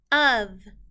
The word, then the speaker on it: of: Of. V. These 2 letters are not making its real sounds. The O in this word is making a short U sound, and the F is making a V sound, of.